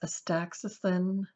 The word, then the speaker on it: astaxanthin: I think it's pronounced astaxanthin.